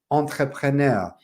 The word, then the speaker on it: entrepreneur: Essa palavra muito difícil de se pronunciar. É uma palavra francês, entrepreneur. But in English, we use the same word and we say entrepreneur.